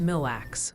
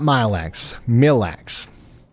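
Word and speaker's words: Mille Lacs: Ryan Milestone 55 says it's pronounced milax almost one word not mileware I thought it was mile because like it's it's like the the French word for a thousand right and they and that's mile right or am I am I plum plum backwards there I thought I was being super smart bigrained here but uh I stand corrected I will record that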